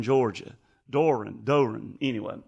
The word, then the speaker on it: Doe Run: Well, I the the the guys that build them, they're from they build them in Doe Run Doe Run, Georgia. Doran Doran, anyway.